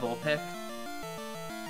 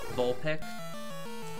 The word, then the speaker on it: Vulpix: around I got vulpic which one Vulpix Vulpix you're stalling this might be good for me no you didn't pronounce the X I was confused it's